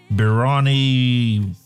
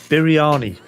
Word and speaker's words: biryani: There's a birani. There's one that's made in a pot. Biryani. That's how it's pronounced.